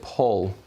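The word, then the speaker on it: Pól: moment ago we got to have a storm paul almost paul almost it's not quite spelt the same as your name but paul uh therefore p uh that's how you pronounce it paul that's this year's p name uh how do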